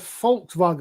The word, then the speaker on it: Volkswagen: a good one because it's actually a volkswagen because the v is an f and a w is a v a volkswagen as in folks as in people yep which is why